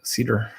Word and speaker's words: Seder: But, I feel Sam Seder is Cedar. Sam Cedar.